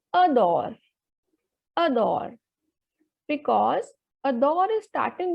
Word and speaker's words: adore: r e so a the vowel is coming at the beginning so the pronunciation will be ador ador because a door is